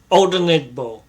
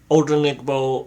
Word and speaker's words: Odenigbo: I'm just putting in name pronounce. So I got names correct. Odenigbo. Odenigbo.